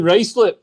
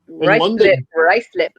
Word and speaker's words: Ruislip: I'm in Ruislip. Ruislip. I always wondered how you pronounced it.